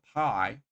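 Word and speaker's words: Pai: pie for wet roads cream pie is spelled with P AI cream pie I put it in the titles of all my videos it is spelled like that cream pie it's named after the city of pie in Northern Thailand um no uh I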